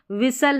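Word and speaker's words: whistle: अब यहां पर वी यानी व डब्ल्यू का उच्चारण है। विसल है। यहां पर एच भी आपको साइलेंट नजर आएगा और टी भी इसका भी उच्चारण नहीं होगा।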